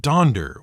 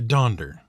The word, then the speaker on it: Donder: the right spelling since almost everyone was pronouncing it donder with an o and not a u so he changed that